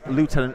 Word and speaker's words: lieutenant: it's left it's pronounced it's spelled the same but it's pronounced left tenant is it maybe but